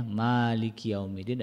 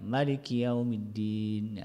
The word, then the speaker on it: Maliki yaumiddin: taala berfirman Maliki yaumiddin Nah di sini ada yang membacanya eh panjang ya mimnya Maliki yaumiddin ada yang membacanya pendek ya Maliki yaumiddin ya sebetulnya walaupun berbeda